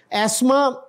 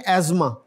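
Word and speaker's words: asthma: बन जाएगा फिर ये एस्मा ब्रिटिश इंग्लिश में एस्मा बोलते हैं इसको और अमेरिकन में एजमा दमा दमे का जो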